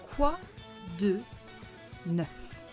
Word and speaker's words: quoi de neuf: Quoi de neuf? Neuf. For once, the letter at the end is not silent, so you have to pronounce it. Quoi de neuf?